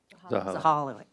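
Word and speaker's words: Zahilay: drafted by staff to the county council chair, Zahila, how do you say his name? Zahala.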